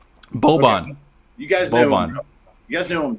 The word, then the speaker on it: Boban: You guys know Boban. You guys know who I'm talking. Eric, it's Boban. Can you pronounce it?